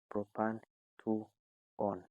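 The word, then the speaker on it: propan-2-one: 2y o n e which is simply pronounced as propan 2 on further practice on the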